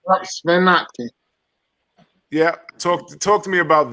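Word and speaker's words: Ottke: Sven Otke.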